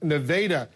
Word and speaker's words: Nevada: with congresswoman Michelle Bachman she's joining us from nadaa yes it's pronounced nadaa Iowa congresswoman let's talk a few National Security